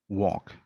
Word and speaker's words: walk: auxiliary so no problem the dropping l in words like for example walk right it is a silent l walk talk like in